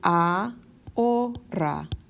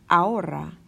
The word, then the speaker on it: ahora: So this word, for example, which means now, is ahora. Ahora. We kind of ignore that H in the middle. Ahora. Ahora. It does not make a sound.